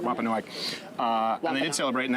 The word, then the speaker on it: Wampanoag: meal of Thanksgiving with the I think it's pronounced Wampanoag. Is that, do you know? I want to make sure I'm getting that right. Wampanoag.